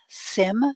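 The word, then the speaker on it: CIM: has the advantage of a pronounceable acronym sim CI m to describe the natural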